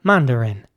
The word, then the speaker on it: mandarin: Next up, mandarin. Mandarin is spelled M-A-N-D-A-R-I-N, and it's pronounced mandarin. It's important to pronounce the I at the end like an E this time.